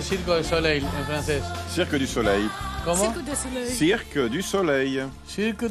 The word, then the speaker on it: Cirque du Soleil: se pronuncia bien Circo de Soleil en francés? Cirque du Soleil.